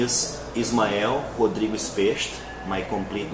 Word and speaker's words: Specht: I always said Specht, as I said now in the beginning of the interview, but the correct is Specht, something like that.